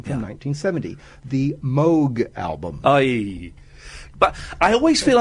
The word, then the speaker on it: Moog: And of course, everyone says Moog. And uh I I've now got that thing where someone says, "Oh, it's the Moog." I go, "Actually, it's pronounced Moog."